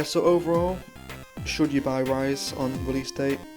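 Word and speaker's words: Ryse: Uh, so overall, should you buy Rise on release date? I keep wanting to pronounce it Reese. I know it's Rise, but you know, if I do pronounce it, I know it's Rise.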